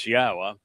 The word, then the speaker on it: Yahowah: It's based upon the verb haya, which means to exist, which explains how to pronounce 3 of the 4 letters in Yahowah.